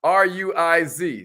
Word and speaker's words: Ruiz: Don Miguel Ruiz is the author. Don Miguel Ruiz, R-U-I-Z. Somebody spell that out for her.